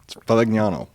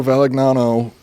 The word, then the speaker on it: Valignano: to say it out loud, I was like, Valignano. Whatever. Anyway, this dude, Alessandro Valignano, arrived in the city of Kyoto, Japan.